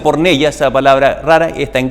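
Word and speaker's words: πορνεία: el significado de estas palabras la palabra griega por neya que ahí aparece por neya que se pronuncia por neya esa palabra rara está en griego se pronuncia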